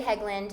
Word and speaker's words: Hegland: Yep, Heglund. I said it right. Yep. Yeah. So we have Heglund, who's another awesome team member on the Marti Hampton real estate team.